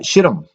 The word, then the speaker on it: Shittim: israel was camping in a town called uh shittim i know it sounds kind of funny that's actually how you pronounce it it is spelled s-h-i-t-t-i-m the men